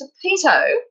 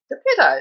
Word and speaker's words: Dappeto: to start with that the manager of the building tells me that emphatically the name is pronounced depito however a former resident told me it was pronounced the pito so i leave it